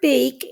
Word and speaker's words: bake: Now the word bake is very special because it has the long A sound and it ends with a silent E.